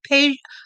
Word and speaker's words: Peja: Peja, P-E. That's the reason I remember the name. Peja. I don't know if I'm pronouncing it right.